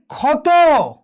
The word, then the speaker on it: ক্ষত: একটু খেয়াল করে দেখো, যদি বলা হয় যে ক্ষত, দেখো প্রিয় শিক্ষার্থীবৃন্দ এখানে কোথায় রয়েছে, এই ক্ষিউটা এখানে রয়েছে, পদের প্রথমে রয়েছে, আদিতে রয়েছে, তাহলে সুতরাং কার মতো হবে, ডিরেক্ট ক্ষয়ের মতো উচ্চারণ হবে।